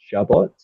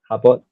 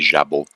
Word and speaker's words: jabot: Habot. Uh, for that particular word, if it's a French word, it' be jabu. Jabu. Okay. The, uh, T is not pronounced.